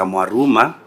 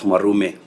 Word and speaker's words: Maruma: It is senator Maruma and the committee of education who went to kichu senator maruma not marume.